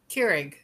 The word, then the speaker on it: Keurig: How do you pronounce it? Keurig.